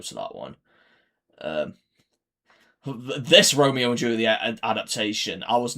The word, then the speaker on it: Romeo + Juliet: Obviously, I think it's still pronounced Romeo and Juliet, not Romeo + Juliet, but So, that's how it's stylized.